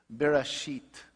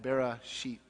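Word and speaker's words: בראשית: But in Aramaic, it sounds like this. Bereshit. Can you say that? Bereshit.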